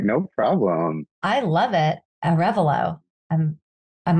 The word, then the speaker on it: Arevalo: am pleased to have with me today aravayo the owner and operator of verducci event Productions hi hey how's it going Paige it's actually pronounced Arevalo it's a tough one thank you for accepting